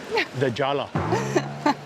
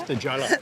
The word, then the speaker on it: La Jolla: I read online that it looks like there's some kind of association with the Spanish word for the jewel, which is La Jolla, but with a Y.